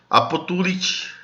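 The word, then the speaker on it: abstulit: E diante do som de S ou I, tem o som de P. Absunt, apo, apotulit.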